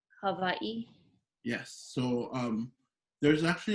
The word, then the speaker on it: Hawaiʻi: h-a-w-a-i-okina i so we we got to make sure we pronounce all of those letters including the okina so if you can repeat after me yeah you can also say hawaii hawaii hawaii but when